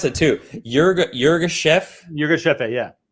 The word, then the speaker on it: Yirgacheffe: And how do you pronounce it too? Yirgacheffe? Yirgacheffe, yeah. It's Yirgacheffe.